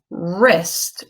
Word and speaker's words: wrist: arm this is your wrist risk is WR is T right and the W is silent so let's spell these